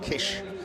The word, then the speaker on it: Kiss: at Kish would spell Kos kiss but it's pronounced Kish so that truck turns off into the paddock